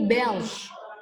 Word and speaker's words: belge: Bacanya ini Belge.